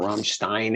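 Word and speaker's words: Rammstein: inch nails i love ramstein or rahm stein however you want to pronounce it but you know i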